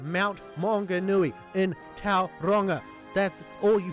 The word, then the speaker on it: Maunganui: to pronounce Mount Maunganui the simple text-to-speech video that gets the pronunciation right Mount Maunganui a text-to-speech program goddamned tips to speech program pronounced it correctly but I think it goes deeper than the surface value of of a British man going mound go Omni I think it blinks